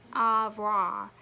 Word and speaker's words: au revoir: You say it like it, au revoir.